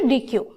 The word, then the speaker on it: Deque: Now, introduction to DEQUEue. DEQUEue pronounced Deque. This is actually this is pronunciation as a Deque, but in simple form we call it DEQUEue.